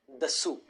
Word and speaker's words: Dassault: So if you would ask somebody who is French how to pronounce this, they would say Dassault.